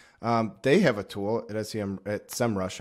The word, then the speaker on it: SEMrush: They have a tool at SEMrush, I should say. That's the right way to pronounce it.